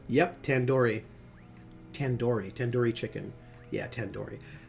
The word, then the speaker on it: tandoori: now I just realized you pronounced tandoori like a door yep tandoori tandoori tandoori chicken yeah